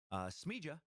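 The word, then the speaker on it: Smiljan: Tesla's birthplace, Smija, there I'm saying it right, in the mountains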